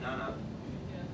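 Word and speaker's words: 七: Well, 7 is pronounced Shi-Chi and Nana.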